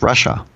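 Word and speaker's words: רשע: Like at the Passover Seder, there's the son that's the Rasha, which really is pronounced Russia.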